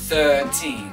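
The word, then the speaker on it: thirteen: À nouveau, on retrouve le TH. Th. 13. Et on n'entend pas le R du milieu.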